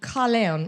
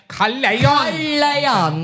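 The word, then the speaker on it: Caerleon: it's right near to this town called Kalleon. And now I know I'm saying that wrong. Kalon, you're very good at I'm very good at Kalon. Kalan, that's how you say it.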